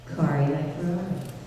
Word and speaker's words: Kari Wahlgren: Spread it far and wide on your social media that it is in fact Kari Wahlgren. You can tell that I've had it mispronounced a few times.